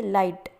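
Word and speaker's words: light: परंतु रोमन लिपि में हमें साइलेंट वर्ड यानी कि मूक अक्षर देखने को मिलते हैं, जैसे कि लाइट। अभी लाइट में जी अक्षर साइलेंट है।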